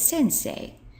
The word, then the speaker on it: 先生: to do is add this character which is pronounced say and we get Sensei which is the Kani for Teacher so let's